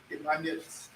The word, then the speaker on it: Emmanuel: How do you pronounce it? Emmanuel. Emmanuel. That's how it is pronounced.